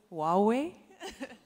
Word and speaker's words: Huawei: is Huawei or Huawei I think Hua is the correct way to pronounce it but I don't want